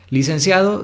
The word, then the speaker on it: licenciado: Cia es la sílaba tónica. Podemos ver que es una palabra entonces grave porque es la penúltima y termina en vocal, así que no se acentúa.